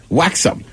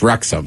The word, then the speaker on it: Wrexham: Right, I mean, look, I sat on the airwaves a couple months ago talking about Waxum. Everybody's like, it's Wrexham. It just starts with a W.